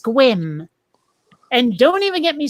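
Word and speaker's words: Sequim: where it's spelled s-e-q-u-i-m which looks like sequiam but it's pronounced squim and don't even get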